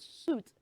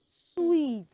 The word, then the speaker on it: suite: to but you see once there is an e after that t it becomes sweet uhuh boys s w e t t that is sweet yes have you heard about homophones before words having the same sound different spelling and meaning so you don't say hotel and suit it is not hotel and suit okay it is hotel and suet okay so those rooms